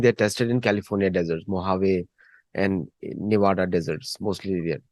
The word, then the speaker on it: Mojave: tested in California deserts, Mojave and Nevada deserts, mostly there. Or as we say in India, Mojave. Mojave. Mojave Desert. The J is not, J is silent in Spanish language.